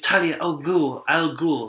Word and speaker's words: Talia al Ghul: My name is Talia Al Ghul. That's how you say it.